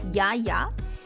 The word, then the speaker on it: Jaya: Her name is Jaya, or as they pronounce it in Sweden, where she lives, Jaya.